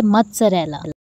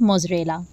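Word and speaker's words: mozzarella: चीज़, मोज़रेला cheese, ये बिल्कुल गलत है, इसको हम बोलेंगे मत्सरेला। मत्सरेला, इसमें हम थोड़ी सी टी की साउंड को लेके आएंगे, मत्सरेला, जबकि इसमें टी नहीं है, लेकिन जब हम इसमें थोड़ा सा टी का साउंड ऐड करते हैं तो उसकी साउंड जो है बिल्कुल करेक्ट प्रोनाउंसिएशन इसकी बन जाती है, मत्सरेला। इट्स मत्सरेला, इट्स नॉट मोज़रेला।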